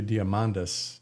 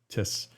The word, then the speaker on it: Diamandis: But um Peter Diamontis uh has this um and I guess to pronounce that correctly would be Diamandis, not Tis.